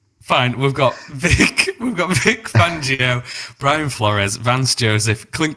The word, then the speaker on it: Fangio: We've got Vic Fanigo. Is that who he's? Is that I'm really bad at pronouncing names here. So we got Vic Fanigo. not at all. You need to stop. It's Vic Fangio. Fangio.